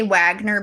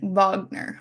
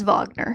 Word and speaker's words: Wagner: that much about Richard I would say Wagner based on how it's spelled but in the German it's like vogner it's Vagner yeah I didn't really know